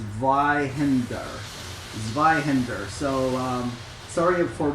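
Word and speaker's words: Zweihander: best to do it it's a German word so it's a little bit difficult it's called Zender Zender so um sorry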